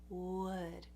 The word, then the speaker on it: would: Now what's going on with this vowel? It is a relaxed sound. You know that the oo in English, that very tight oo as in moon, that is a sound that's very easy for people to pronounce typically. Ooh. So you go to that ooh, and then you open the mouth just a little bit more and relax it. Ooh, ooh, So right there is the vowel in would.